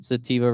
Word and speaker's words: Sativa: spell that spell that spell your name sativa s a t i v a like like the like the weat SAA like the like the marijuana yeah like the marijuana